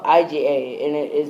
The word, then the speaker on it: IGA: It's spelled IGA, and it is pronounced Iga.